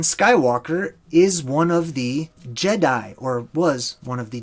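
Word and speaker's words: Djedi: class as the jedi the way it's spelled is d-j-e-d-i d-j the d it's become silent in our day and age today but it's j the jedi so anytime you see the d and the j together typically it conveys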